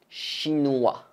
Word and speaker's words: chinois: pouvez répondre je suis chinois pareil ne prononcez pas le s1j neway chinois donc encore